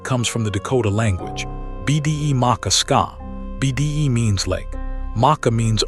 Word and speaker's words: Bde Maka Ska: Roughly, bu day, mah kah, skah. Bde Maka Ska.